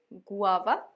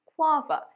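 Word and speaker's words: guava: আমি অনেককে বলতে শুনেছি গুয়াভা, এটা ভুল। সঠিক উচ্চারণ গুয়াভা।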